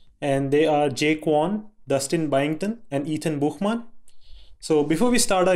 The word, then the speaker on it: Buchman: Hey, I'm Ethan Buchman, or as Mayor correctly pronounced it, Buchman.